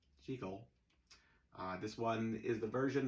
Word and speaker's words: Jekyll: As we found out last week in Edinburgh, Scotland, Jekyll is the correct pronunciation. So, even though it's a silent movie and it really doesn't matter how you pronounce anything when you're just pantomiming, the fact of the matter is, in Edinburgh, it's pronounced Jekyll.